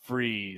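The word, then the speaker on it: Frese: Barry's name is pronounced Freeze, not like McDonald's Barry fries. Freeze, more like a menu item at Taco Bell.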